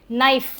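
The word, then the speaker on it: knife: नाइफ के का कोई रोल नहीं है।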